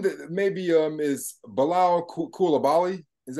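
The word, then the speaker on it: Coulibaly: but um one that maybe um is below Kula Bali is how you pronounce it so um he was he was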